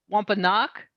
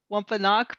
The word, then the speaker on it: Wampanoag: relationship of the and i also notice i'm pronouncing this wrong so let's see if i can do a better job the wampa knock is that closer wampanoag people um what is what is their relationship